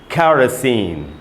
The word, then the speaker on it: kerosene: र के बाद आप देख रहे हैं आधा अ है, यानी र पर थोड़ा सा रुकना है, और उसके बाद है स के बाद बड़ी ई है सी, और फिर न है, यानी इसको हमको पढ़ना चाहिए कैरोसिन। कैरोसिन। आपको क प्लस ख का साउंड सुनाई दे रहा होगा, क्योंकि यहाँ पर क प्लस ख का ही साउंड है, इसलिए मैं उसको वैसे पढ़ रहा हूँ। इसको पढ़ेंगे दोस्तों कैरोसिन।